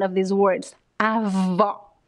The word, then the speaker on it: avó: Avó.